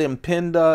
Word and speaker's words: Impinda: Reeve son told them how it should be pronounced I'm gonna call it in pinda until I hear differently I am P I